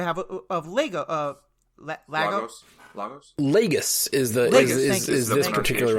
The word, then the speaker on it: Lagos: one in Nigeria yes the Nigeria one is pronounced Lagos we had a Nigerian listener write in and be like they say it wrong in the MCU the MCU says logos but it's leg right not but yeah and